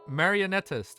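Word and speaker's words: Marionettist: Maronetist. Mario King. Mario. Marionetist. Marionetist. Uh-huh. Marionetist is more accurate.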